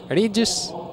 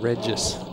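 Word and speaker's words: Régis: Regis, not Regis.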